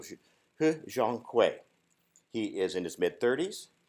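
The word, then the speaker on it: 贺建奎: I say that carefully because there are a lot of different pronunciations for his name, but I went to Chinese TV and listened in. So He Zhonghui.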